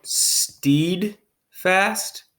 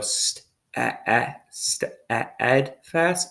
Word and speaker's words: steadfast: okay okay here okay this one steed fast that doesn't sound right to me so we go steadfast steadfast as the word okay daddy's gonna